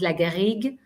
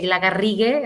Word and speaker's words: Lagarrigue: So my family name is a French family name, so you pronounce it Lagarrigue when you pronounce it in French. Well, Spanish people would say Lagarrigue, and they double R like that.